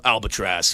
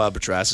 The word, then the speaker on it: Albatross: Well, before we get into it, introducing you guys, the band Kill No Albatross is with us. And did I say it right? Albatross? It'd be Tross.